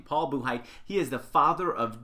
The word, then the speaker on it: Buchheit: That's how to pronounce his last name, Paul Buchheit.